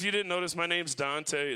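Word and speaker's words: Duante: didn't notice my name's dante it's spelled all up uh it's d-u-a-n-t-e so i get everything from duonte to dwant i even get dwayne every once in a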